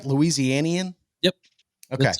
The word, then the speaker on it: Louisianian: Louisianian?